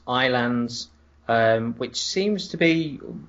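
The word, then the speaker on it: Ylands: which which stands for your lands but it's pronounced iands um which seems to be one wonderfully all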